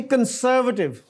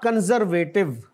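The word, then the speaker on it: conservative: और आगे है जी कंसर्वेटिव, नॉट कंजर्वेटिव, the correct pronunciation is कंसर्वेटिव, कदामत परस्त जिसको कहते हैं।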